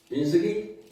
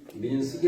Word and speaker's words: 민수기: 장까지 읽었습니까 혹시 아시는 민수기 25장까지 민수기를 읽었습니다 25장까지 자 그래서 우리 민숙이 민수 발음을 잘해야는데 제가 발음을 잘 못 하겠네요 민수기 민 민숙이 아니고 민수기 민숙이 자이 민수기를 통해서